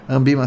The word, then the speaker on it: Anbima: Ambima sim se escreve com um N depois do A, devido à questão de ser a Associação Nacional das Instituições de Mercado Financeiros e de Capitais, tá?